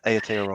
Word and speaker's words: Aotearoa: that's how I pronounce it. Yeah, Aotearoa.